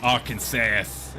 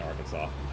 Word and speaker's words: Arkansas: Arkansasass. Is it Is that how you say it? Arkansasass. Uh, no. I We always just say Arkansas.